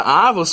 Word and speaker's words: avos: Não confunda avos com avós nem avós, tá? Ó, não tem acento. Você lê isso aqui como sendo uma paroxítona, né? A sílaba forte é o A, né? A penúltima.